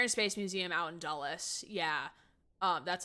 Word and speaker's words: Dulles: It's spelled Dulles. I was hearing Dallas. No, Dulles.